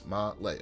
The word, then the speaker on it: Malé: I've looked up a pronunciation guide. That's how they say it. If it's wrong, I'm sorry. It's Malé, according to the guide.